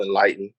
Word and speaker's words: Nlyten: Oh man, I want to give a huge shout out first to Enlighten. You know what I mean? And that's spelled Nlyten.